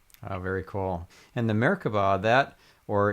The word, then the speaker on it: merkaba: very cool and the merkaba that or in Hebrew it's pronounced merkava or merkavah is a three-dimensional structure